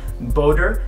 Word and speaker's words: BOTTER: And there is some uncertainty out there as to how to pronounce it, but the French do seem to pronounce it BOTTER, so I'm going to go with that.